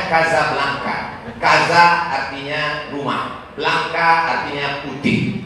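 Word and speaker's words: Casablanca: Nah antaranya marobo ibukotanya tulisannya cakar lancang bicara bacanya Kasablanka Kaza artinya rumah belakangnya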